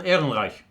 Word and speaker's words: Ehrenreich: Han Solo actor Alden how do you pronounce it? Alden Ehrenreich.